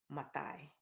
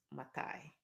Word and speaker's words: Maathai: My name is Wangari Matai. It is spelled with two A's, Matai.